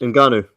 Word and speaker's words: Ngannou: And this, by the way, this Ngannou. Is that how you say his name? Yes. Ngannou.